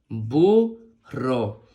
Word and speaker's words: burro: suena bu muy bien la doble R con la o Recuerda que hay que pronunciarla con más fuerza muy bien ro bu ro excelente la n con